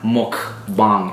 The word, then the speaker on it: mukbang: So they're spelled mukbang. M-U-K. Okay. Oh. Bang. Okay. All right, but they're pronounced mukbang. It's Korean. Mukbang.